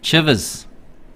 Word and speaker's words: Chivers: Chivers. Not Shivers. Oh, shivers. Me timbers. I just been pulled up for pronouncing name wrong. You got the floor. What is it? Chivers. Chivers. That's Chivers. People. Not Chver, not Chivers.